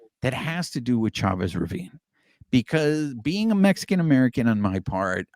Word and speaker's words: Chavez Ravine: of my Heritage and I'm pronouncing it Chavez Ravine Chavez Ravine I'm sorry Chavez Ravine before before everybody on